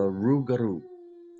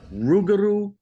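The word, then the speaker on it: rougarou: an entity called the Rugaroo. And Rugaroo. Ruguru. Ruguru. You can roll your Rs. You can say it however you want. You can say it the northern way, which is rugaroo.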